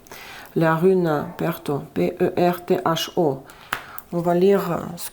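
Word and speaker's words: Pertho: Donc pour vous les Verseaux, ici il y a une Perto, je sais pas, je prononce à la russe Perto, la rune Perto, P-E-R-T-H-O.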